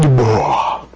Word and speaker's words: Dubois: Because the S is silent. He is David Dubois.